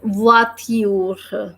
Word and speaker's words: voiture: The word is voiture because the sound of letter V is v. Then we have a combination sound which is oi, and it is pronounced as voix. So the sound is becoming voix.